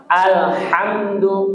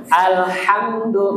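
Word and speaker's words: الحمد: Iya, tadi H-nya masih pakai yang H. Coba yang tipis, Pak. Alhamdu. Alham. Alhamdulillah. Alhamdulillahirabbil alamin. I. Baik. Tapi H-nya dilatih lagi, Pak. Alha. Ha hi beda dengan ha alhamdu ya. Nah tuh ya Bapak catatannya di huruf H-nya.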